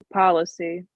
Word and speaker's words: policy: there was the word policy how do you pronounce that Leanna policy yeah pay attention the strength is on the